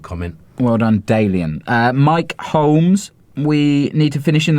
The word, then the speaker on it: Holmes: Holmes. No, Holmes. Holmes. Like Sherlock Holmes. But there's an L in there.